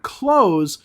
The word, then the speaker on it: clothes: Now, I said the word close, and most speakers of English will not even know that you said clothes. They'll think that you said clothes because the pronunciations of these two words are very similar.